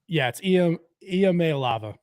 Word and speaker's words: Iamaleava: It's not an L. Oh goodness. It's is it I? It's Iamaleava. Iamaleava.